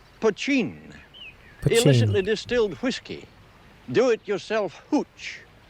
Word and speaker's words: poteen: Mountain Dew is another name for the stuff that's spelt poteen and pronounced pochine.